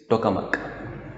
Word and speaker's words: Tokamak: टोकामक, इसकी pronunciation कुछ और भी सकती है, but Google says it इज टोकामक।